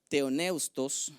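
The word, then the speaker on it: θεόπνευστος: inspirada por Dios literalmente creo que se pronuncia teoneustos en el griego y significa son dos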